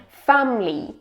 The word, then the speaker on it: family: Family, family. Pay attention, there are only 2 syllables. It's not family, it's family.